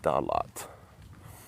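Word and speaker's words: Da Lat: Somebody told me yesterday it's actually 2 words, not 1 word. They said, you're saying it wrong, Chris. DaLat.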